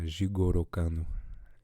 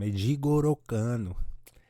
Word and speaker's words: Jigoro Kano: And the story starts with Jigoro Kano, and I'm pronouncing that probably horribly, but that's fine. It's I'm pronouncing it the Brazilian way, how I was taught it the whole time. Jigoro Kano.